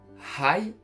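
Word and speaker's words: はい: Oui, c'est high. Si on veut l'écrire phonétiquement français, h a I.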